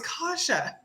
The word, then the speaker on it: Kasha: And then you got your homie Cassie Aluza. She I hope she's not talking to us. Kasha, that's that's our legislative director. Well, she's in the chat. You said her name wrong. It's Kasha.